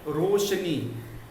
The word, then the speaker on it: रोशनी: तो सही है रोशनी। उच्चारण क्या है? रोशनी।